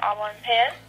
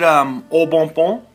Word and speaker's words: Au Bon Pain: You called Auburn Pen. Isn't it, Au Bon Bon? No, it's Auburn Pen. But why do some people pronounce it Au Bon Bon?